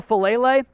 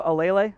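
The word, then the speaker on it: Faalele: Daniel Falele, or excuse me, Falele, is the proper pronunciation there, from Minnesota.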